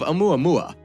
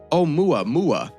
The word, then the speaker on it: 'Oumuamua: It was given the more poetic name of 'Oumuamua, which is pronounced "oh-mooah-mooah" and loosely translates to "scout" in Hawaiian.